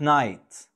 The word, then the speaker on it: knight: He's a great knight.